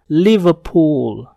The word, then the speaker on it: Liverpool: huruf konsonan yaitu p maka cara bacanya adalah Liverpool Liverpool bunyi er pada kata ini tidak terdengar tidak semua huruf r